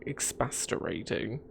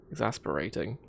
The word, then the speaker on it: exasperating: it's a little ex it's expastorating no exacerbating exasperating that's how you pronounce it i knew the